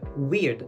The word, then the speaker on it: weird: Et encore une fois, on aurait envie de dire parce qu'il y a un e. Et ben pas du tout, ça va se dire weird. Presque comme de i en fait à la place du e.